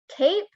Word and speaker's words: cape: vowel sound instead and the word cape the vowel says the same because it is of the silent e the silent e makes it a long vowel sound cape has a long vowel